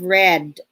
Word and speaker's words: read: end of the term the students will have read so even though the word is spelled greed right it's pronounced red by the end of the term the students